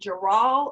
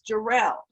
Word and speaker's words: Jarrell: it has unique spelling is it jaral or jarrell it's jarrell got it so let